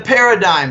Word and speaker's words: paradigm: The big moves in the paradigm shift. Paradigm's not just a cool word with a silent G.